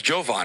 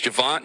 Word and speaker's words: Javon: I thought it was Jovan. It's not Jovan. It's Javon.